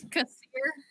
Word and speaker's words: Kassir: it's Kassir, hard K sound. Kassir.